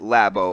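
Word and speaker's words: Labo: called the Lobo or some people have called it lab oh I believe it's pronounced Lobo and basically what it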